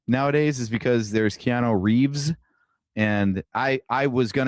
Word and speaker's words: Reeve: There is no S and Christopher Reev. The original George Reeves has an S.